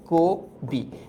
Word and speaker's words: কবি: যেই অধ্বনিটা পরবর্তীতে ও তে পরিণত হয়। এর জন্য উচ্চারণটা হয় কি? কোবি।